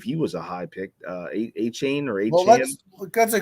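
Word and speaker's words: Achane: guy from Miami, who I always say his name wrong, I don't believe he was a high pick. A-Chain or A-Chain. Well, that's a great segue, Chris, because my number 8 is Devon A-Chan.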